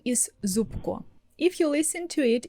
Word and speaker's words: Зубко: If you listen to it, if you hear my last name for the first time, you could think that I spell it like Зупко. But no, we're using the letter б in the middle. But you couldn't know that if I didn't tell you that.